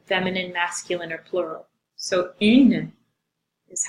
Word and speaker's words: un: I put that little n in parentheses to mark the fact that it's a little bit nasal, and again, unpronounced, the n.